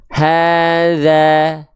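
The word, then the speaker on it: هذا: Sehingga ketika kita lafalkan dalam ayat ini, pelafalannya begini. Hadza, hadza, hadza, hadza, hadza, hadza, hadza.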